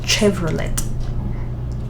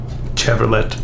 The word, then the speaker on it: Chevrolet: This in Kenya we pronounce as Chevrolet. Chevrolet. Yeah. Yeah, it's a tricky one because I think it's French, maybe?